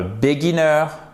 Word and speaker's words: beginner: Et c'est pas un beginner, ok? Beginner, ici, vous avez un i court, d'accord? Ici, vous avez aussi un i court, mais vous avez l'accent tonique là, ok?